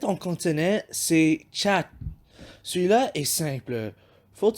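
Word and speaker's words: 七: Pour prononcer chat, imaginez le mot chat. Et ensuite, tu oublies le terminaison, puis tu dis chat.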